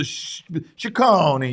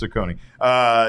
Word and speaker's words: Ciccone: I was like saying I wasn't pronouncing it with enough Italian flair. Yeah, that's the Ciccone. You got to get you got to hit it hard. No, that's not how it's said. It's just Ciccone.